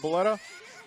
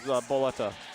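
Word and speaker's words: Bulleta: BB Hood, the Japanese name for her is Boletta. Okay. Boletta. Or So like Baretta. Or if you say it with the Japanese accent.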